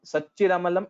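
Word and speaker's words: सच्चिदमलम्: And Satchidamalam. Like, I mean, first time when you said it, you made that mistake. So Satchit Amalam. So Satchidamalam should be told together.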